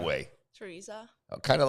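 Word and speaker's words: Tereza: Teresa, how do you pronounce it the right way? Teresa, kind of like we do it, but it's just a text spelling.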